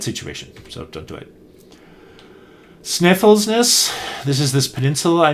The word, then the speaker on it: Snæfellsnes: Then we drove out and went on the F570 road up the backside of Snæfellsnes. Aiden tells me is the way to pronounce it.